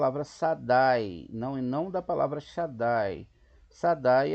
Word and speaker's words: Shaddai: Quem está acima de todos eles não pronuncia Sadai, como a gente leu, como pecado, né? Com pecado, mas sim Shaddai, com Shin, que é Metrate, tá vendo?